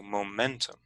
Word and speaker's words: momentum: momentum in the pronunciation you can see this apostrophe which marks that the middle syllable is going to be the strong one it's placed before the strong stress so momentum however if that were